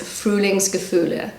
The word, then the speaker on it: Frühlingsgefühle: So one of my favorite German words is Frühlingsgefühle. So that's how I pronounce it and this is how Google pronounces it.